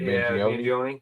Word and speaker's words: Mangione: Mangione.